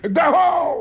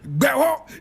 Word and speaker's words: Gbeho: Today we're talking about Philip Kwame Gbeho. This is the photo of the man. Philip Kwame Gbeho. And Philip is spelled P-H-I-L-I-P. Kwame is K-O-M-I. Kwame. Gbeho is G-B-E-H-O.